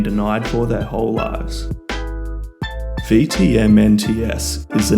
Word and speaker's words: VTMNTS: Supposedly pronounced V-T-M-N-T-S but I doubt that will translate in the long term and will read instead as Vetements by Vetements.